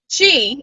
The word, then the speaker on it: Zhi: But Chi, it's pronounced Chi. It's Z-H-I, but it's pronounced Chi, and that's Chinese for nature, wellness, and that kind of thing.